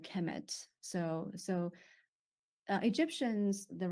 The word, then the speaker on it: Kemet: uh it will be the noun will be pronounced Hemet so so uh Egyptians